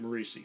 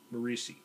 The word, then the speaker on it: Morisi: Howard uh Pete Morrissey uh Pete marici sorry I've been mispronouncing it for a long time and I found out by watching a YouTube video of a Charlton panel that the guy's name was Pete morisi and anybody that read